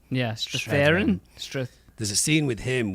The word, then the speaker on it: Strathairn: Strathairn. Yeah, Strathairn.